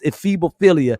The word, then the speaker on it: ephebophilia: It's too many syllables and ph's. It's ephebophilia, where it's not like an 8-year-old, but it's a 16-year-old.